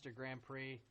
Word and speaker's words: Grand Prix: the B the warm Grand Prix a single elimination oh the x is silent I didn't know that